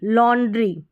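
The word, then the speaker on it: laundry: तो यहाँ पर ये बड़ी स्पेलिंग के साथ में वाई लास्ट में आया है तो इसको ई के रूप में प्रोनाउंस किया गया है। किसके रूप में, ई के रूप में। देखिए ल ऑन, ठीक है, ल ऑन ड्री, लॉन्ड्री, तो इस तरीके से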